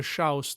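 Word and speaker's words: chrząszcz: mating habits of the shouse that's a polish may bug students if you have trouble pronouncing it rhyme it with shroused furthermore we will not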